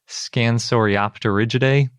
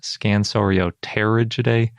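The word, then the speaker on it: Scansoriopterygidae: always want to call scansorioter but apparently it's op because the p is silent and pterosaur but then you pronounce it when it's in the middle of a word i don't know latin's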